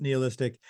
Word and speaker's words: nihilistic: all down, who nihilistic, not NEO, but nihilistic or nihilistic NIH.